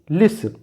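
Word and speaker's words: listen: T silent हो example देखें यहां पर टी साइलेंट तो इसका प्रोनंसिएशन होगा Hasan Hasan this will be लिसन लिसन this ल दिस इज सॉफ सफन एंड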